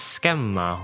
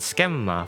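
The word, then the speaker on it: Skemma: His code name is pronounced as schma which means subject for speculation. One more time. Anakagoras for his given name and schemma for his code name.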